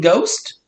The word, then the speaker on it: ghost: and it's rare two letter g spelled with a gh as in ghost and also the word